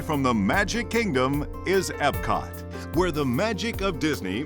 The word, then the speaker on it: Epcot: the Magic Kingdom is Epcot where the magic of Disney meets the wonders of the real world in two themed lands future world and World Showcase we call it Epcot it's spelled e-p-c-o-t experimental prototype community of